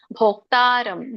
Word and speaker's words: ಭೋಕ್ತಾರಂ: ಶ್ಲೋಕ ಉಚ್ಚಾರಣೆ ಹೇಗಿದೆ ನೋಡೋಣ ಭೋಕ್ತಾರಂ ದೊಡ್ಡ ಬಾ ಇದೆ ಓ ಇದೆಕೆ ತವತ್ತು ಭೋಕ್ತಾರಂ ಯಜ್ಞ ತಪಸಾಂ ಸರ್ವಲೋಕ ಮಹೇಶ್ವರಂ